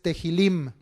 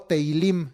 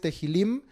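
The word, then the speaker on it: תהילים: libro de los Salmos es Tehilim o Teilim, es con una H ahí. Por eso a veces yo las H's, al ser los términos en hebreo, tiendo a marcarlas, a hacerlas notar, para que pronunciemos un poquito mejor los términos. Entonces el nombre hebreo es Tehilim, es plural de la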